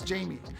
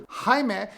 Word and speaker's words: Jaime: right no no it's Jamie because I don't want to get into a five-minute conversation about how you mispronounce my name and how my name isn't Jaime but it's rather hi man and you can't say